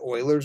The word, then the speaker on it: Euler: even just pure mathematics some people call it euler's number e-u-l-e-r pronounced euler we'll talk more about